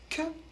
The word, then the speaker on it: que: l'avez vu ça fait que on ne prononce pas le U et le E se prononce e ça fait que attention